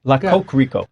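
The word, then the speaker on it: Le Coq Rico: La Coque Rico.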